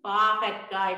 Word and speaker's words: பாகற்காய்: பாகற்காய் பிள்ளைகள், நீங்கள் பாகற்காய் என்று சொல்லுவது அதுக்கு சரியான உச்சரிப்பு பாருங்க.